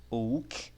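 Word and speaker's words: οὐ: não no português que no grego é como se fosse o se lê né se pronuncia como ou tá que o verbo advérbio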